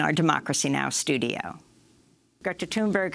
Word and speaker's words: Thunberg: Sometimes it's Thunberg, sometimes it's Thunberg. But I think it's funny that everyone pronounces it differently, so that is just, I don't mind anyone pronouncing it wrong. There's no wrong way to pronounce it. Everyone pronounces it in their own way.